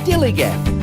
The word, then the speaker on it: DILLIGAF: That's spelled D-I-L-L-I-G-A-F, Dilligaff, and this is what it means.